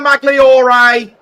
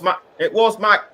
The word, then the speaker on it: Magloire: It was Tyler Magliore, or should that be it? Or should that be Magloire? Or should that be Malois? I apologise if I've been pronouncing his name wrong. It was Magloire.